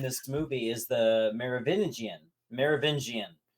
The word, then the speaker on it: Merovingian: Merovingian. It's a really hard name to pronounce, but when he was saying it, he's like Merovagina, and I'm like writing